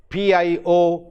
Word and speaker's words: pioneer: So, same way we have pioneer, P-I-O-N-E-E-R. The word is pronounced as pioneer, ear.